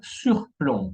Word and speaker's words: surplomb: Ahora, la letra B muette, mudas, tenemos plomb, plomb, ¿ok? Plomo, aplomb, está de plomo, y surplomb, ¿ok? Jamás se va a pronunciar la B al final.